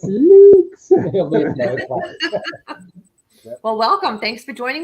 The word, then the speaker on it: Laux: Is it Laux? It is Laux. All right. I meant to ask you that beforehand, and I said, shit, I hope I don't say it wrong. No, you nailed it. Yeah, I was wondering. It's Luke's.